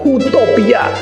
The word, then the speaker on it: utopia: Tapi orang semacam Thomas More yang menulis buku Utopia 1500 tahun lalu memakai istilah utopia, bacanya utopia.